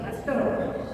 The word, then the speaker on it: Pasteur: Y el porque francés dice que se pronuncia pastor, pero es pasteurizada, viene de Pasteur.